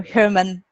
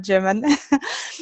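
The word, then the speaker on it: Germán: of your name now now I understand you're Herman not German and please and uh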